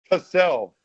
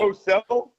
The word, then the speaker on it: Cosell: How did I mispronounce his name? Cassel. Oh, stop it. Whatever. Look, I got a hard I got a hard K sound and an S and an L. Cosell.